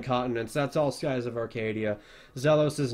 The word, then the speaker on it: Arcadia: pronounced I I I I pronounced an emphasis on the a for some reason I don't know I go up to my friends and be like Oh I'm playing this awesome RPG called uh Skies of Arcadia or Arcadia or whatever I would say I